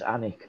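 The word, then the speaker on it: Alnwick: a l n w i c k it's pronounced Anic Castle Yes right So that's why it is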